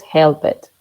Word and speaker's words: helped: ¿Cómo se pronuncia esa ed? Como una T.